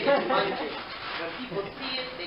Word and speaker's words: Mungin: My last name is Mungin. When people see it, they cannot pronounce it.